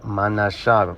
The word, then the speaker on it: Manasseh: Okay, that's what manasse means and that's how you say it in the paleo. Manasha because there is no e in the paleo.